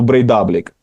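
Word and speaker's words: Breiðablik: Наголос в них завжди от на передостанній склад. Я теж начебто з'ясував, але там є якісь виключення в їхній мові, тому є, тому що Брейдаблік представляє місто Копавогюр і там наголос на букву О.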